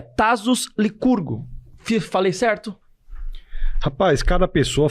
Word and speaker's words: Tassos Lycurgo: Como que se pronuncia? Isso aí, Tasos Licurgo mesmo, né?